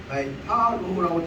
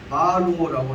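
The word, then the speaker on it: Barro: 그 다음에 제3문단은 67페이지 다음 페이지에 나온 아까 얘기했던 딱 중간에 합불대학 교수 파로라고 되지만 여기 발음으로 보자면 바로라고 한다고 합니다.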